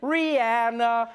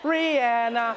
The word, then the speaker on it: Rihanna: She should have been like, Rihanna, that's my name. Rihanna, you're pronouncing it wrong.